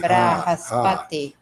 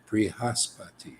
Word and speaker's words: Brihaspati: But in the beginning, you say Bri.